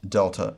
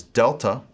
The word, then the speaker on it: delta: is a triangle now in the erasmian pronunciation this is a hard d sound de as in dig but in the modern pronunciation this has become more of a soft sound like the in this and so we will pronounce it either as delta or as delta our next letter is